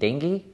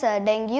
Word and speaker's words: dengue: is it pronounced yes dengue or dengue that's a good question bhuvan so the actual term is dengue not dengue it's better that we call it dengue many people call it dengue and different countries say